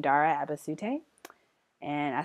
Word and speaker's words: Abasute: it's my name, Dara Abasute, and I spelt it out there for you guys. Abasute. That's how you say that.